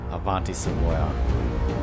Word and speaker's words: Avanti: this looks like it's going to be fun Avanti at least I pronounced it right the adti I was pronouncing